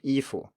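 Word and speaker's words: 衣服: A similar example is ifu, so it's first tone neutral tone, ifu.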